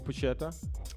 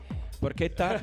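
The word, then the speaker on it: porchetta: Are you also going to do more pushetta? Porquetta. Yes. Yes. If you say it right.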